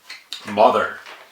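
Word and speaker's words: Mother!: You gotta say it like Mother because it's got an exclamation point.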